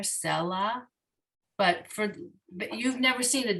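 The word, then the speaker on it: סֶלָה: So it's telling us to put the emphasis on the first syllable here, selah.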